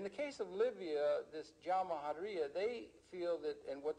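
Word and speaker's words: Jamahiriya: You'll hear Colonel Gaddafi talk about the Jamahariya, pronounced Jamahariya, which roughly translates, in an Arabic term, which roughly translates out the state of the masses.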